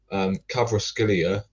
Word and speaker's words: Kvaratskhelia: Kvaratskhelia. I still can't pronounce the bloke's name.